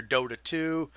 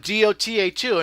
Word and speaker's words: Dota: I kept calling it DOTA2, and Jack's like, Daddy, it's pronounced Dota.